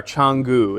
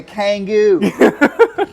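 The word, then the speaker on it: Canggu: so that's it so like where we are changu it's it's spelled kangu midwesterners would say k Kang I'm going to Kangoo with my kangaroo Kangoo with kangaroo the the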